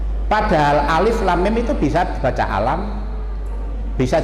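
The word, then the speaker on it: ألم: Alifnya agak pendek, kemudian lamnya panjang, alif lam mim. Padahal alif lam mim itu bisa dibaca alam,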